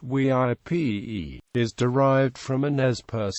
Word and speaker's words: Weippe: Park which interprets the site the name VI pronounced WIP is derived from an npers name whose meaning